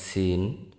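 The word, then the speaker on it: سين: জায়গা থেকে উচ্চারিত হয় সিন উচ্চারিত হয় জিহ্বার আগা সামনের নিচের দুই দাঁতের পেট ও আগার সঙ্গে লাগিয়ে উচ্চারিত হয় সিন সিন সিন সিন তারপর আসি সেনশিন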